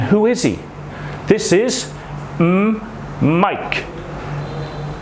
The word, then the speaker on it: Mike: This is Mike. You don't say eh because of the E at the end. Mike. Mike.